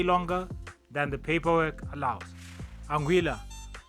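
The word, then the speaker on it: Anguilla: Anguila, pronounced exactly as you think.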